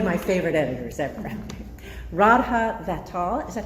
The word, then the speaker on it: Vatsal: Radha Vatsal, is that how we pronounce it? Vatsal, thank you, is the author of A Front